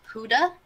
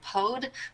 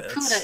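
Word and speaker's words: Pode: and they said that in Norwegian, this is pronounced Puda, but they've gotten used to so many people so many English speakers saying Pod that they'll accept either. Okay. So Puda is the intended pronunciation.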